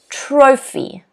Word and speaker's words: trophy: Okay, 2 syllables, 1 stress. Trophy, trophy. If you look at the phonetic spelling in blue, you'll notice there's an apostrophe before the first syllable. That means the first syllable is stressed.